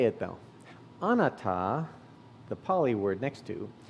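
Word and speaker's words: anatta: says i agree how to say it though anata the pali word next to means non-self atta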